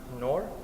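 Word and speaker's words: نور: in the Arab language in know which is pronounced nor means light light understood as a spiritual line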